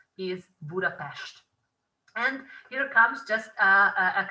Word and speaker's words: Budapest: you should never say budapest but you should always say budapest and that is because s and z would give an s sound in hungarian but the single s